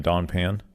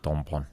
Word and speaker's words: Don Pan: And just Like the gringos were saying Don Pan. Yeah, it was like Don Pan. Yeah. And she's like, no, it's Don Pan. Don Pon.